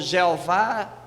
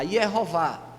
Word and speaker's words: Yehová: é o Deus, a Yehová, né? Eu faço essa pronúncia porque eu entendo que assim é que mais se aproxima, né? Porque Javé, não existe J lá, isso já foi uma coisa do período medieval aí.